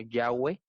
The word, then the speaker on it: Yahweh: la traducción muchos difieren Hay unos que sugieren que se pronunciar como Yahweh no que es el nombre